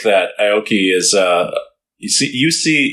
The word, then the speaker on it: Aoki: It's entertainment, pure entertainment, but I also really like that Aoki is, you say like Aoki or, I say Aoki. It's Aoki.